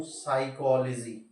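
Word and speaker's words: psychology: आपसे दूसरा बोलता हूं साइकोलॉजी पी एसवाई सीओ एओ जी इसमें प साइलेंट हो रहा है एस की आवाज आ रही है और मैंने आपको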